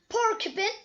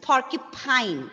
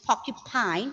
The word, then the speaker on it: porcupine: Dinosaur, kangaroo, porcupine, tortoise, walrus, hippopotamus, rhinoceros, leopard, donkey, chameleon. Okay, very good, Aldous. The plosives were very well pronounced, but it is porcupine. Okay, this is porcupine.